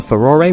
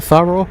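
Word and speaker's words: Farore: pronounce and there's this one I've always said far bro but there's some people will call a furore which makes sense because Japanese and I'm sure they're well there are other pronunciations of people come up with but I'm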